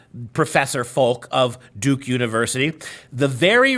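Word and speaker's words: Folch: Unbelievably, Duke University's cultural anthropologist Christine Folk, I believe that's how it's spelled, it's pronounced F-O-L-C-H, Folk or Fulch, she told the Chronicle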